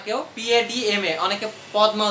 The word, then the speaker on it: Padma: দা পদ্মা, এখানে পদ্মা উচ্চারণ করবে না কেউ, PADMA, অনেকে পদ্মা উচ্চারণ করো, পদ্মা উচ্চারণ করা যাবে না।